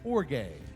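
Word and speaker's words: ὀργή: First, Et premièrement, the word wrath in the Greek, alors et mot et colère là en grec it's pronounced as orge.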